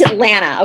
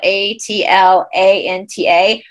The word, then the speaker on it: Atlanta: when you're a local the last tea so atlanta is spelled a t l a n t a last he is silent if you're local atlanta atlanta i always say that